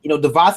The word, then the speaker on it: DeVos: Is it DeVos? I always get DeVos. I was saying her name. It's like Voss Water.